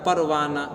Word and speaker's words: پروانہ: کرنے کے لیے آئے، جس کا تلفظ ادا کیا نہ جاتا ہو، جیسے آدمی بولتا ہے پروانہ، زمانہ، ہے کہ نہیں؟ تو یہ اس کے اندر دیکھیے گا تو صرف حرکت کو ظاہر کرنے کے لیے ہاں آیا ہے، بات سمجھ آ رہی ہے، تلفظ اس کا ادا نہیں کیا جا رہا۔ تو جو اپنے سے